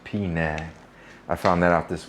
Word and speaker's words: Penang: We probably pronounce it Penang. It's actually pronounced Penang.